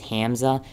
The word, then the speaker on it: Hamza: my name's hza and it's actually spelled h a m z but if I write that then it then whenever it pronounces it it says Hamza so I have to